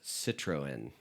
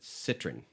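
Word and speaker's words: Citroën: So, I've heard it also called Citroen. Okay. Okay. But yesterday when I was running with Craig and Gavin, who are both English, they said Citroen. Citroen. Yeah. Is it French though? It's French. Okay. Yes. So, that's probably the English pronunciation and I'm sure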